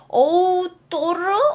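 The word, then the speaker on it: odor: 그림은 이제 확실하게 알게 u 오도르 오도르 이렇게 발음합니다 author thl 살려줘야 돼요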